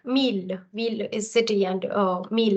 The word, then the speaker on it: mille: away, and hence I'm left with ville and mille.